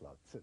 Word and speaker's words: Lao Tzu: It's pronounced Lao Tzu Yeah. in China.